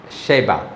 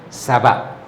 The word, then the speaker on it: Saba: call it in English Sheba or shava shava whatever but we pronounce it according to that Arabic pronunciation Saba verse number 1 verse